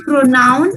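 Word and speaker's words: pronom: and then for saying pronoun in french the word is p r o n o m and the pronunciation is pro no but the pronunciation will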